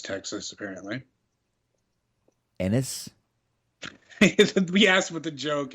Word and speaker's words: Ennis: know the other one he was born in anus texas apparently ennis we asked what the joke is that that's